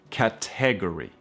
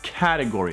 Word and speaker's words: category: Es category, category. No es category, es category. ¿Ok? Category. La T en inglés americano es mucho más suave, ¿no? Category. Category. Category. La fuerza en la primera A.